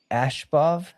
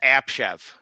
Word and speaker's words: Abshev: This uh Musa Ashbov. Musa. Musa? Yeah. Give me the correct correct pronunciation, Eler. Musa Ash Ash Abshev. No, it's Abshev. It's Abshev. It's Abshev. Yep. Abshev.